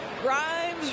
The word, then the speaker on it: Grimes: Grimes rhymes with dimes, on time right there.